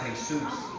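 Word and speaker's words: Jesús: Jesus to go harder not realizing the commands name is pronounced hay-soos but I still have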